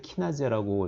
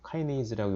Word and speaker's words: 카이네이즈: 헥소카이네이즈, 예전에 키나제라고 이렇게 표현하기도 했는데 뭐 독일식 발음인지 일본식 발음이기도 하죠. 카이네이즈라고 요즘 다시 표현하는 것 같아요.